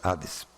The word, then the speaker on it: Hades: colocar e no novo Hades ou como o H em português não se pronuncia Nós escrevemos com H mas acabamos assim engolindo e sai Ades mas escreve com h